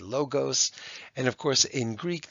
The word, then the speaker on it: logos: all of those words we then move on to logos or as some people who've never studied spoken Greek will say Lagos but this is a Greek Channel predominantly so I'm going to call it a logos and of course in